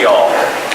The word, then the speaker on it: Youghal: It's spelled Y-O-U-G-H-A-L, but it's pronounced y'all.